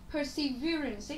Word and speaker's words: perseverance: Cái từ perseverance thì nó có nghĩa là tính kiên nhẫn, kiên trì. Thì từ này của chúng ta lại là trọng âm dương tiết thứ mấy? À, thứ 3.